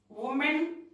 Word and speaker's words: women: Okay, now you see from here, man, men, women, women, WOMAN, WOMEN, women, women. We have to pronounce like this.